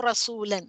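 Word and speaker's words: رسولاً: अब हम पढ़ने के वक्त पे कितना क्लीन एंड क्लियर प्रोनाउंस करना है. रसूलन रसूलन ऐसे ऐसे करके नहीं पढ़ना है हमको.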